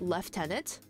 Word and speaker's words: lieutenant: handed me an L the British pronunciation Lieutenant leftenant really huh time to